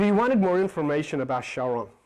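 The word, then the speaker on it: Charon: wanted more information about Shaon you can call him Chiron whatever you pronounce him ch or you spell Shaon.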